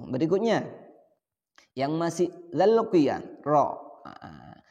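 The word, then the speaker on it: ر: Ro, perhatikan ro ini ketika sukun maka getarannya tidak terlalu banyak untuk ro. Itu untuk pelafalan Al-Quran. Untuk pelafalan Al-Quran. Tapi kalau misalkan ro itu sukun atau baca puisi, nyanyi misalkan, itu lain lagi. Jadi untuk melafalkan Al-Quran, ro-nya cukup 2 getaran saja.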